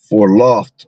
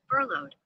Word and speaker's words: furloughed: For loft, I think it is. For loft. Pronunciation. For law. Oh, slack here. Furloughed. Furloughed. That's what it is. I knew I was saying it wrong.